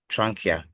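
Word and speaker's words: trachea: have the trania please take note of the pronunciation so we have the what trania so the tranka is also known as the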